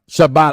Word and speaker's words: Shibata: Shibata. Oh, Shibata. Okay. It's the first name I can't fucking pronounce.